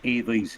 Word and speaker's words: Ailey: I wrote out Ailey's name phonetically. Yeah. I have it like Wally, only it's Ailey.